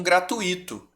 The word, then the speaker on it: gratuito: vai vir aqui que pelo fato dessa palavra não tem acento não tem como eu pronunciar ela como gratuito nem fortuito e nem circuito circuito circuito tá oo é a sílaba a vogal mais forte em relação ao ih tá bom se eu